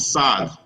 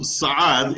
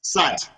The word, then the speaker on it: Saad: you need to consider how Saad is going to be pronounced in the playground, because the non-Muslims are going to see his name as Sad. Yeah. If it's spelled S-A-D with apostrophe, Ad with an Ain, or if it's going